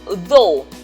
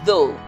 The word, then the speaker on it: though: we also have um though we have the GH buts for the transcription of it the GH is silent so we're only pronouncing this part here so we have though though so there's no